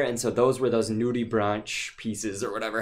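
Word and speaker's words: nudibranch: Steph, do you know what a nudie branch is? Or what? It could also be pronounced in other, I guess, nationalities pronounce it in different ways. So you might hear it as like nudie bronc.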